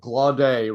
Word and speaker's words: Glaudet: And I'll have to remember Glaudet rhymes with Barve.